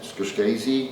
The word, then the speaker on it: Scorsese: Martin Scorsese, is that how you say it? No. Pretty close. Scorsese. Scorsese, thank you, Dave, thank you.